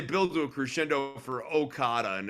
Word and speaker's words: Okada: to a crescendo for okada and it's like okada okada but like even the back and back punch uh having the emphasis on the last syllable there just I mean